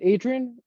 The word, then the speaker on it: Adrian: man how about yourself um it's is it Adrian yes how do you say your last name